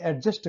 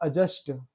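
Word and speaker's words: adjust: अक्सर हम बोलते हैं एडजस्ट करो, लेकिन वो अगर रियली में देखा जाए तो जो उसका उच्चारण होता है अजस्ट।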